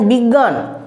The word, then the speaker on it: বিজ্ঞান: নেই এই যে এখানে বিজ্ঞান বিজ্ঞানে তো আমরা উচ্চারণ করছি গ কিন্তু আসলে গ এর গ এর কোন লক্ষণই নেই গো এখানেতে তাই না বা